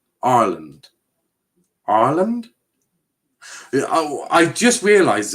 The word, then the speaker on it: Ireland: ireland right um you need to pronounce the r ireland ireland ireland oh i just